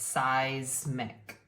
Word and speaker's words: seismic: yeah here the ey It's tricky because the ey is going to make the long sound with those two V so it's seismic okay seismic ways making